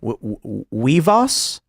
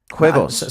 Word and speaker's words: huevos: Weavos? Huevos.